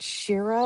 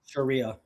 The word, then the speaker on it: Sharia: were married under a religious um is it Shira law? Am I saying that right? Sharia.